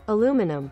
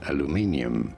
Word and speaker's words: aluminium: Although, in all fairness, in the UK, it would be said more as aluminium.